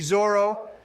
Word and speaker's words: Zoro: I'm not going to listen to takes from imbeciles who pronounce it Zolo. That's what Viz says it is, you numbnuts. That doesn't change that it's a dumb fucking translation. We all know it's supposed to be Zoro.